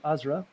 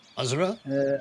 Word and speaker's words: Azra: My name is called Azra. It is a pleasure to meet you. Azra.